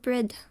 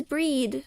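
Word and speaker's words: Bríd: Sometimes they're all attributed to the one called Brid. Oh, it is breed.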